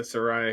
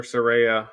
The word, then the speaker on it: Saraya: to give it to Soraya here um or Saraya how do you say it's Soraya Soraya I think either way works so yeah I mean